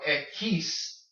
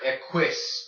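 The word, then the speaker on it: equis: that's interesting to note please note that your ex is called at keiths not at quiz alright so be very careful how you say the exodus Spanish now your why is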